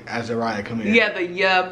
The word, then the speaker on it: Azari: So every time we go out and then we've been going to the doctor. Azari? They call him Azari. And I'm like, Azariah. It's Azariah.